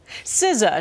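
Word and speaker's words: SZA: our words sometimes too and now the most mispronounced words of 2023 are out compiled by the online language learning company Babel siza she's one of spotify's top 10 most dreamed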